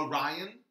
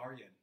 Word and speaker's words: Aryan: How do people mispronounce it? You better. Orion? Is that how they say it? Orion. Yes. I'm sorry. Are you Orion? No. Why would you say it that way? Aryan. Nice to meet you. Aryan? Aryan. No, you got it.